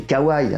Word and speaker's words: kawaii: Généralement, on y retrouve le fameux trio kawaii, prononcé kawaii bien sûr, sugoi et naturellement baka.